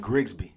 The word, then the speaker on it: Grigsby: Grigsby.